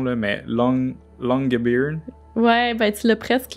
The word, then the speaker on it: Longyearbyen: Puis c'est sûr, je vais bâcler la prononciation, là, mais Longyearbyen. Ouais, ben tu l'as presque, là, Longyearbyen.